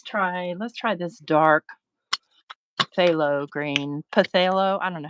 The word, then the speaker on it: phthalo: all right let's try let's try this dark phthalo green potato I don't know how you said I'm gonna say it is silent yeah phthalo green phthalo must be Greek